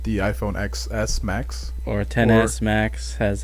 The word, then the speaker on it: XS: talk about again the iPhone XS Max Or 10s Max, as how you're 10s supposed Max. to pronounce it.